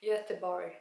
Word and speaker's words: Göteborg: Göteborg, that's how you say it in Swedish.